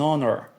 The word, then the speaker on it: honor: frase é o an Porque mesmo que uma palavra comece com consoante mas possui o som de vogal Então nesse caso também